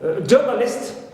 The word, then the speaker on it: journalist: Also, ist, like journalist, so list is neutral, but je, as usual, is stressed. Less, like bottomless, clear, so less is neutral, and ba is stressed, as usual.